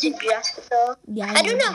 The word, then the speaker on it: Geoff: G's sometimes pronounced like J, because you know, G, J. I know that part, but like. You and know. The O is silent.